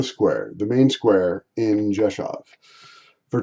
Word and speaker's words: Rzeszów: It's pronounced Rzeszów.